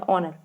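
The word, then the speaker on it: honor: ठीक है, इसमें है का साउंड है लेकिन इसमें ओ का साउंड है, ऑनर।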